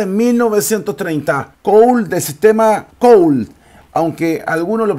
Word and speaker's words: Colle: jugada en Niza en 1930 cool de sistema coal Aunque algunos lo pronuncian coche o coche Aunque viendo por ahí